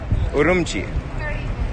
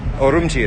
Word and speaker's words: Urumqi: Urumqi. Urumqi is how it's pronounced locally.